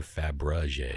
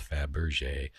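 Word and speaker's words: Fabergé: was saying it wrong i was saying fabra jay it's faberge faberge egg in the world and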